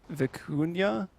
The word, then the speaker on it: vicuña: It's a relative of the llama, and I'm going to try to pronounce it. It's the vicuña.